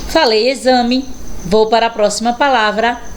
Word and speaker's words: exame: a próxima palavra exemplo olha aí o x com som de z exército Então realmente o X Ele fica totalmente diferente na pronúncia da palavrinha escrita com ele então aí com z eu tenho exame exército e exemplo vamos ver x com